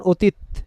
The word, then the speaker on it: অতীত: উচ্চারণ করবো না কারণ হসন্ত না দিলে উচ্চারণটা কি হবে অতীত এখন উচ্চারণটা কেমন অতীত এখানে আমি থেমে গেলাম এর উচ্চারণ আর করিনি আচ্ছা বউ বউ শব্দটা